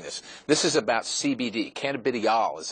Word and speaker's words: cannabidiol: Cannabidiol is how it's pronounced, and it's an extract from the marijuana or industrial hemp plant.